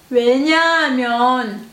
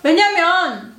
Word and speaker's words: 왜냐하면: 왜냐하면, 왜냐하면. Mais oralement, quand on parle, en fait, on n'entend pas trop ha, tout simplement. 왜냐면. Mais en fait, c'est déjà prononcé très vite, mais très légère.